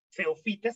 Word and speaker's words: feofitas: Si te fijas, se escribe PH, que suena F, aeofitas, feofitas se pronuncia, como el sargazo.